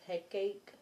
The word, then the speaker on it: Hecate: Goddess Hecate. Hecate. Hekate. So he and Kate. He Kate. But I don't think it's said like that. But you got loss, wrath, and Hecate.